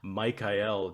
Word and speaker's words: Michael: Okay, well, I guess I could start by saying so in anthroposophical parlance, we usually pronounce it Michael, just so you know, if you ever hear anthro people talking about Hmm.